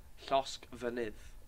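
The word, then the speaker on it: Llosgfynydd: Llosg Fynydd But you just. is volcano. But it's spelled with an F, not a V.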